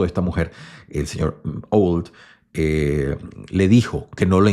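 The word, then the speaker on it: Auld: Y entonces él inmediatamente, pues, el amo, sí, el esposo de esta mujer, el señor Old, le dijo que no le enseñase más.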